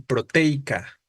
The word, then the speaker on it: proteica: a la acentuación porque qué se forma en proteica qué sucede entre la e y la i es diptongo efectivamente Camilo lo que sucede aquí entre la e y la i en la palabra proteica es un diptongo proteica Vale entonces al